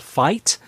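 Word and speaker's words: Fite: have it is a company called fight and and that's spelled f-i-t-e and they will go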